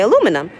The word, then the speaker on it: aluminum: My friends are like, how do you pronounce aluminum in the States? And I say aluminum. And they're like, oh, in Australia or the UK, they say aluminium.